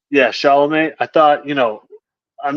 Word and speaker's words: Chalamet: Chalamet. Yeah, Chalamet.